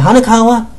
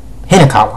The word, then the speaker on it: Hinakawa: I always mispronounce this. Is it Hanakawa? Let me check. Yeah, Hinakawa.